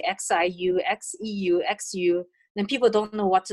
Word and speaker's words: Xu: name, like XIU, XEU, XU, then people don't know what that X to pronounce. Actually, it pronounced like sheep, like she, she. So XU is xu, XIU is xie.